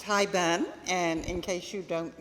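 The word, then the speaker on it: haibun: Okay, it is pronounced Hi Ben.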